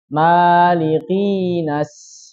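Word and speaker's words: مَلِكِ: Jadi harus sangat jelas li-nya.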